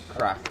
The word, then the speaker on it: craic: Crack. Crack. Oh, well, that's spelled Have you heard?